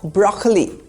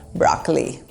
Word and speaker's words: broccoli: The emphasis is on the first syllable, broccoli. In American English, even the first O sound is replaced by an R sound, broccoli, like Barack Obama.